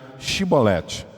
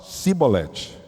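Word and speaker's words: שיבולת: Porque eles não conseguiam pronunciar Shibolete. Eles falavam Sibolete.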